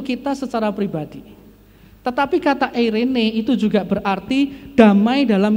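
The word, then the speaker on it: εἰρήνη: Eirene, saudara, eirene. Bacanya eirene, saudara. Itu eirene.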